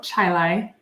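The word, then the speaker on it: Chili: tiny little school in North Chilai New York I mean West West Chi New York I thought it was Chile that whole time I was like it spelled like Chile yes so I'm glad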